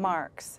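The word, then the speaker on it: Marckx: Your character's name is Mary, and how do you pronounce her last name? Marks.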